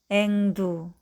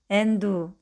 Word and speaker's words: 앵두: 이응과 디귿이 만나면 몽돌, 앵두. 이응과 비읍이 만나면 왕비, 흥부. 미음과 디귿이 만나면 검도, 침대. 인데 말을 배우고 있는 아기나 발음에 서투른 사람이 간혹 몬돌, 앤두, 완비, 흠부, 건도, 침대처럼 소리 낼 때가 있습니다. 뒤 첫 소리를 너무 일찍 준비해서 그렇답니다.